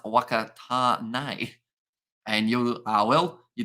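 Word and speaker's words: Whakatāne: And Whakatane is pronounced Wakatane.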